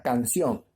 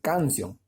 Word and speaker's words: canción: Pero, por ejemplo, llevo la palabra canción, ¿ya? Canción. La divido en sílabas. Canción, ¿ya? 2 sílabas. Sencilla. Entonces, canción. Lleva mayor fuerza de voz en la última sílaba. Porque no puede decir canción, ¿ya?